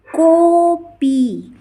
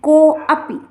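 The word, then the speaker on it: कोऽपि: जैसे कॉपी, कॉपी, कॉपी, अर्थात इसका उच्चारण जोर दे करके, आ का उच्चारण को में जोर दे करके किया जाता है। जैसे आ उच्चारण नहीं किया जाएगा कि को अपी, अलग नहीं किया जाएगा, बल्कि कोपी।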